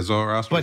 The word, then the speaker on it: Zoroastrian: Yeah, Zoroastrian.